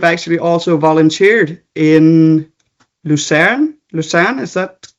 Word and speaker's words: Lucerne: Lucerne, is that pronounced correctly?